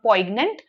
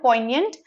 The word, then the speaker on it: poignant: Because the word poignant. That's how we pronounce it. Not poant, poignant. The word poignant means something that evokes sadness in a person.